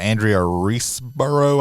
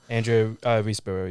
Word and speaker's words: Andrea Riseborough: So Nicolas Cage, and then the titular Mandy is played by Andrea Riseborough. I think that's how you pronounce her name. Andrea Riseborough, yeah.